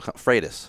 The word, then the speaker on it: Freitas: says his name, and I just realized I'm mispronouncing your last name. How do you say your last name? I'm still Freitas.